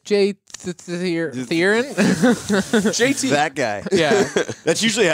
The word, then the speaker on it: Therrien: How do you pronounce your last name, Jay? Therrien, but you know, Therrien.